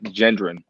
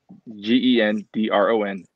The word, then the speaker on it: Gendron: like um for me my last name is pronounced uh gendron like g-e-n-d-r-o-n gendron that's how i pronounce it okay if i had